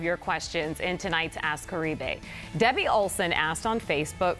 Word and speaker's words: Caribe: It's actually pronounced Caribe, but most people just say Caribe since it's a lot easier to pronounce.